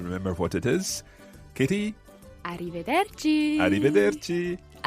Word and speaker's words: arrivederci: it is arrivederci francesca let's hear the proper pronunciation of this arrivederci kitty and this literally means until we see